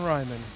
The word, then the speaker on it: Ryman: Kevin Ryman. Rhymes with Hyman.